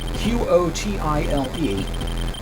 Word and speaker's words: Qotile: Qotile. That is how it's pronounced according to Warshaw, so I'm going to stick with it.